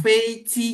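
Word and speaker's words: 飞机: Ya, jadi kalau dia ditulis huruf J, ya, dia ditulis huruf J, maka harus diucapkan dengan huruf C. Nah, makanya pesawat Feici, tapi tulisannya bukan Feici, tapi Feiji tulisannya. Tapi dibacanya Feici, begitu.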